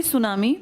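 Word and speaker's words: tsunami: मैं तो सुनामी की बात करूँ ना, सुनामी जापानी भाषा का शब्द है जिसमें टी साइलेंट लिखते हैं, ऐसे बोलते हैं, लिखते हैं टी सुनामी, बोलते हैं सुनामी।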